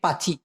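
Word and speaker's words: pakcik: সৎ চাচা, চাচাকে অথবা মামাকে একসাথে ওরা সবসময় বলে থাকে পাচি। পা চি। লাস্টারটা ক আছে, কিন্তু ওটা ছোট করে উচ্চারণ করে, এই জন্য পাচি শোনা যায়।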